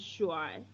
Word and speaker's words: shuai: Okay, so handsome in Chinese is shuai.